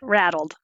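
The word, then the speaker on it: RADLD: with USA so you say rattled we actually pronounce it rattled you do rattle oh okay all right in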